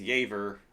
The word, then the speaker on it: Jever: of all time is yver looks like it's spelled jever that one you don't